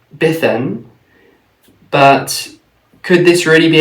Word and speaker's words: Bedwini: about the name so I pronounced it bethan but could this really